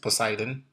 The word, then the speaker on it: Poseidon: Am I pronouncing it right? Poseidon?